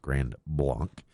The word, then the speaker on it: Grand Blanc: In Michigan they might say blank, I don't know, but it technically should be pronounced Grand Blanc.